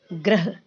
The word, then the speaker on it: ग्रह: लेकिन हमने यहाँ पर इसमें पदेन र लगाया है, इसलिए इसका सही सही उच्चारण करेंगे ग्रह।